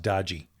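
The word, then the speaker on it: DOGE: And I'm the only one who pronounces it correctly. It's pronounced Dodgy.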